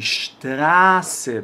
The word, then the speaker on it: Straße: Só que sempre que eu tiver uma vogal, né, antes aqui desse SZ, essa vogal eu vou demorar um pouquinho na hora de pronunciar, vai ser uma vogal longa. Então, die Straße, demora mesmo um pouquinho para falar.